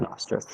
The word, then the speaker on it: Nostr: Nostr, is that, how would we pronounce that? I just pronounce it Nostr.